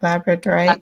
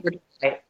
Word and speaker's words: Labradorite: Labradorite. Labradorite. So it's like a Labrador dog. The Yeah, "ite" at the end.